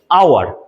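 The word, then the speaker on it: hour: আচ্ছা, এইবার আরেকটা জিনিস দেখিয়ে দিই তোমাদের এদিকে, আওয়ার। এই যে এখানে একই রকম আওয়ার, আওয়ার। অনেকে বলবে কি এইচ আছে, তাহলে আমি এখানে বসিয়ে দিই এ। না, কি আছে? আওয়ার, আওয়ার, আয়ের মতো উচ্চারণ হচ্ছে, তাহলে এখানে কি বসবে?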